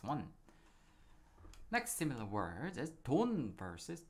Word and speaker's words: 돈: So 도, 도, they have same consonant and the vowel, but the last consonant, 받침, is different. The first one is 니은 받침, 돈은상, 돈.